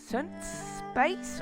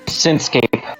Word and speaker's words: Synthscape: Like Synth Space, or how is it pronounced? Synthscape.